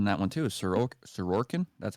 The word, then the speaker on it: Sorokin: What's important in that one too is Sorokin.